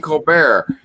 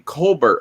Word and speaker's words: Colbert: and he was like why don't you pronounce your name colbert like it's spelled it was like because it's french and he's like are you french or are you american he's like well i'm american but i pronounce it the french ways who annoy you here